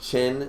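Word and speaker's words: Qin: uh rainey said uh quinn equals chin is how you pronounce it chin supposed to say chin oh that's weird jonathan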